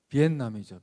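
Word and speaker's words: Việt Nam: 여기 유학생은 있을지도 모르는데 비엔남이죠. 비엔남. 베트남이 아니고. 나도 최근에 알게 됐어요. 베트남은 그 영어 스펠을 그렇게 읽어서 그렇지 현지 발음 가까운 그 나라 사람들이 하는 자기 나라 이름은 비엔남이래요.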